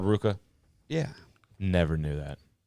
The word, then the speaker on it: RVCA: all the Surfers would say you don't say RVCA you oh call it Ruka what the that's called Ruka never known I've never known I would never